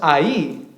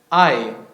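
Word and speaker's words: Hai: y a al Oriente ahora es a con h y no no tiene acento en la i no es ahí es Ay al Oriente es un diptongo mencionó eso también por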